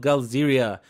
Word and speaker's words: Galzyr: Now, it is spelled GALZYR like this, and for some strange reason, I keep pronouncing it GALZYRIA like this, which is wrong.